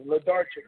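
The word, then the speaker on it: Włodarczyk: You had a controversial loss to Christoph Blodzerik. Another fight that I thought you won. Yeah. I mean, exactly. Ledarchik, that's his name. Yeah, exactly. Yeah, I don't be pronouncing that name right at all.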